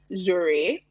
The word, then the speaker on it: Jeuere: So it's pronounced Jeuere, and it means Jeuere. Yeah. Okay, it's actually a combination of a French and a Yoruba word. So Jeu, like Jeu, Jeu is French, and it means play or game.